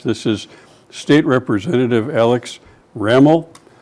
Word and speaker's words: Ramel: This is State Representative Alex Ramel. Rhymes with camel. And I've been struggling with Ramel or Rommel for months, and now I know.